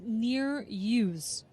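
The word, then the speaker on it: Nereus: So for that Dutch team out of Amsterdam, it is pronounced Neer-Use, from what I can tell.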